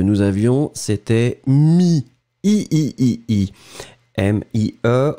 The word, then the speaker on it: mie: Le premier, celui que nous avions, c'était mi, i-i-i-i, m-i-e, on ne prononce pas le e final, mi.